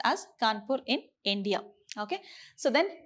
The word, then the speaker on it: Kanpur: city kanpur okay so the kanpur is actually pronounced as kanpur in india okay so then tenacity it is